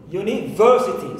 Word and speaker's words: university: the stress syllable and also university university so ver is my stress syllable in this word now as you can